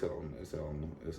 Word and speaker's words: Helena: You said it right. It's Helena. He from Helena.